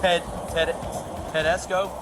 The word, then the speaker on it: Tedesco: the Fourth Tedesco? Is that how you pronounce that? Tedesco. Tedesco. It's Tedesco.